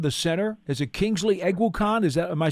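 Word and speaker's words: Eguakun: You were butchering it, and I've butchered it for several years now. What should it be? It's Egg Walk-In. Like an egg walk-in. Oh, like egg walking, almost like Christopher Walken. it is. It's like egg walking.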